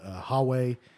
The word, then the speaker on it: Huawei: The Huawei or Huawei is how you say it.